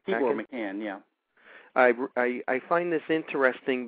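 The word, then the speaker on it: Tibor Machan: Tibor McCann, yeah.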